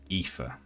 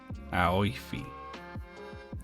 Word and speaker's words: Aoife: How would you pronounce that first name there? I was confident, but then it caught in my mouth. Aoife. I just don't believe it when Fizzy types it. Aoife.